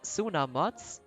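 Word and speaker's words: Tsunamods: than this instead of sooner mods sooner mods it's basically silent when we say it like a bit like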